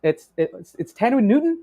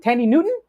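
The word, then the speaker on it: Thandiwe Newton: It's Tanwi Newton. Tandy Newton.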